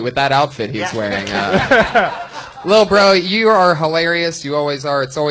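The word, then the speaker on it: Lil Brough: He spells bro with 3 silent letters at the end. Lil Bro.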